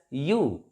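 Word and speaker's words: ewe: a u this word e w e this is pronounced as you you like why you and that's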